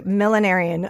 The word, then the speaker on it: millenarian: pronouncing that correctly yeah I lean into the millenarian part of it but that might be my southernness okay millenarian uh militias can you